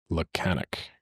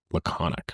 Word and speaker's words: laconic: How do you pronounce this lanic? Laconic.